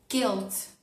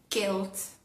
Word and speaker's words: guilt: Cuando tenemos las letras G, u, en general la u no se pronuncia, como pasaría en castellano. Ejemplo, palabras como kes, kes, guilt, guilt, guide, guide.